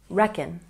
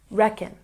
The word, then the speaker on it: reckon: or a relative and when we pronounce reckon we stress the first syllable we always put the